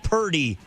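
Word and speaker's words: Purdy: We're talking 49ers and it lands on rhymes with turdy. Now quarterback talk is what we love to do here on the sports leader. Give me your take. Take it or leave it. Brock Pury isn't a top 10 quarterback.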